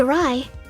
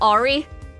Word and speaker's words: awry: Yes, nothing seemed awry. That is how you pronounce that, right? Awry and not Ari?